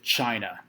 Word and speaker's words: Qin: need to associate with china starting here with the classical foundational period for one starting with the qin dynasty it's spelled q-i-n but pronounced chin we see strong political